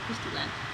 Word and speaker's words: Christy Len: But it's, if you search, it's Christy, as it's spelled, and then L-E-N, Len, so Christy Len.